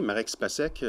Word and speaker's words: Marek Spacek: de m'accueillir ici mon nom vous l'avez bien prononcé marex pas sec je suis d'origine slovaque donc si ça peut